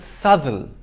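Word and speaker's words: Southwell: by sester but bista three it's not south well but subtle four it's not happensberg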